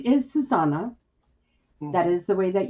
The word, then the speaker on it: Susana: really really but i know my name is susana that is the way that you pronounce my name okay but i like everyone